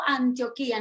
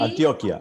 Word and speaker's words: Antioquia: Argentina, desde Belo, Antioquía. No sé si se pronuncia Bello o Belo. Bello, bello, no, bello, bello, Bello, bello. Antioquía, ¿sí? Antioquia, Antioquia, Antioquia. Antioquia, sí. Lo saludan desde ahí.